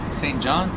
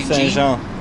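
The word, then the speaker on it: Saint-Jean: Saint Jean? Saint John? Rue Saint Jean.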